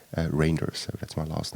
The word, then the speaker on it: Reynders: So if you're wondering how to pronounce my name, it's actually, like a long A, Reinders.